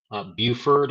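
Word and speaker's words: Beaufort: hazard locations impacted would be Hilton Head Island Buford as I am told it's pronounced Port Royal shello Burton uh it's also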